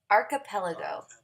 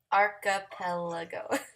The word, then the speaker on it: archipelago: it because you know let's see archipelago archipelago okay so Tribe archipelago there we go god we got that straight now so if you